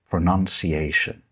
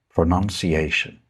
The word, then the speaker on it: pronunciation: The noun form is pronunciation. Pronunciation. Notice that in this word, the verb, it's OU, but in the noun, it's just U.